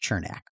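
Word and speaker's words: Černák: lightning with Eric's chernak chernak I'm pretty sure it's pronounced chernak resize the lightning eight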